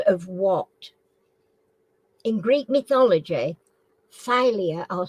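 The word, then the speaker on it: Thalia: was the Muse of what in Greek mythology phia I'll spell it t h a l i a was the Muse of what in Greek mythology phia never heard of that filing cabinet yeah oh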